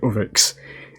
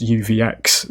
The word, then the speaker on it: UVX: it I tried to say it as literally oix when it's just uvx so the power ladies and gentlemen as we